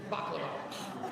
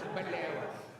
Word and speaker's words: baklava: It's one word, and it rhymes with shmaklava, and it's baklava. Or we say baklava.